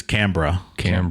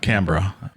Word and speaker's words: Canberra: I believe it's Canberra. Canberra. Of all the words we've butchered on this show, that one, not so awful. That was fairly close. I mean, I said it how it's spelled, right? Yeah, it seems like they just kind of remove the E.